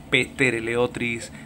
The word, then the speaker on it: Ptereleotris: unos peces muy bonitos se llaman trl otris empezando por p lo que pasa es que la pena se pronuncia petter l otris hetero pera vale con